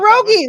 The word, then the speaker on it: Pierogi: deal I said perogue I thought I thought pierogi like the food oh so he actually says pierogi okay all right it's just